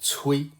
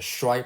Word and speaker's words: 衰: But the mainstream school of thought nowadays is that because we cannot know for sure how every character was pronounced in the past, we should just use some modern pronunciation for everything. So here we use the shui pronunciation.